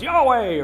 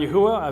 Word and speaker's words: Yahweh: some people you know it's Yahweh or it's Jehovah or yahovah I've kind of gone through all of them in the course of my journey um looking at the various pronunciations of four consonants uh I've landed on Yahweh if you say Yahweh